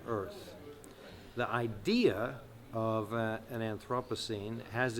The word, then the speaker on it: Anthropocene: some people pronounce it anthropos I pronounce it anthropos the era or epic